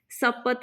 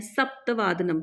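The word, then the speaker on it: सप्तवादनम्: सपत नहीं है, सप्तवादनम।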